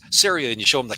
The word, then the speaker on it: CERIA: it's like no it's syria and you show them the can and you say it's syria rhymes with area and so they say